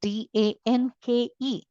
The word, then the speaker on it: Danke: The sound of E is A. Okay. I will not follow the pronunciation sounds there for all the vowels. I will completely pronounce the vowels. So I say danke. It's not danke. Okay. Don't swallow this E.